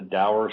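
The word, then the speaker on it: dour: Saturn is D it's a daer sign or derer however you want to pronounce the word it is a it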